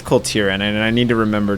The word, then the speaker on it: Kul Tiran: Is it I think it's Kul Tiran.